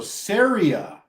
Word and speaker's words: Ceres: Catherine good job area so Syria is how you pronounce it how did we get